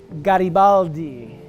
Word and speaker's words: Garibaldi: I pronounce my name it is pronounced gotti Baldy that's how you're supposed to know pronounce it Garibaldi also works too so why did I